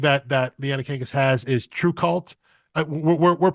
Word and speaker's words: TRVEKVLT: to me okay, yeah, because at it's spelled TRVEKVLT. So Right. the U's are both V's, but I believe it's supposed to be True Cult.